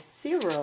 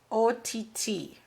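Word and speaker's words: aught: She said that the 0, I've been pronouncing it 0, the size of the beads, is actually pronounced OTT. Okay, so I've been pronouncing it wrong.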